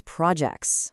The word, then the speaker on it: projects: So where does that emphasis land? You got it. It's projects. The stress shifts right over to that second syllable.